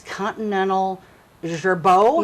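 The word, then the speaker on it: Continental Girbau: You know, one thing, I know there was a company in town here, and I can't pronounce their name. It's Continental Gerbeau?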